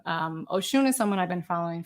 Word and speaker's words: Oshun: So Oshun is this, it's Oshun, and you pronounce it Oshun with the emphasis on the shun. It's not ocean, although it's kind of a nice.